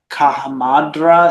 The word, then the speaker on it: Kahamadra: Kahamadra is how it's pronounced, was foul with arid